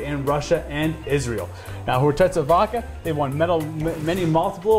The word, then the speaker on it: Khortytsa: We're talking about Khortytsa Ice Vodka. Did I say it right? You got it exactly right. It's Khortytsa Ice Vodka.